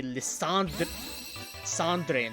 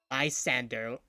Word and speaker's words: Lysandre: I say Lysandre, not Lysander. Whoever thought of that pronunciation was drunk.